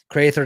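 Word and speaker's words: craythur: Crater, the same as the creature. It is, Tom. Crater just being kind of the Irish pronunciation, kind of Irish language or slang for the creature, the Crater.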